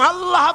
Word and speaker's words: আল্লাহ: আল্লাহ পাকের উচ্চারণটা হচ্ছে, আল্লাহ পাকের নামের উচ্চারণ হচ্ছে আল্লাহ। মুখটা একটু গোল হয়ে যাবে, বলেন আল্লাহ আল্লাহ।